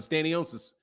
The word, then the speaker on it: Stanionis: So I would say more like he meant Stanionis. How do you pronounce it? Stanionis.